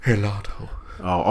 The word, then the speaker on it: gelato: can't talk today either G is also not silent it just sounds like an H it's like when they